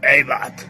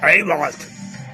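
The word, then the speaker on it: Abbath: Y según él, o como él lo pronuncia, es Eibat. Algo así dice, Eibat. Eibat.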